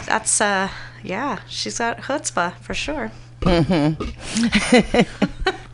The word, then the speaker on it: chutzpah: me only Jews yeah in English they use they do a CH but you have to know how to pronounce it yeah that's why people pronounce it chutzpah and women when they